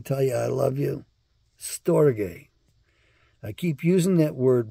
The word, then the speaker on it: storge: to remember but not storge it's such a weird word s-t-o-r-g-e is how we spell it in the anglicized version and the transliterated version I think that's the way to say it properly anyway It's All Greek